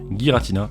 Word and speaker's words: Giratina: voir sur la boîte, Giratina, et oui je le prononce Giratina et non pas Giratina, c'est comme ça que les katakana le décrivent sur les cartes, de toutes les façons.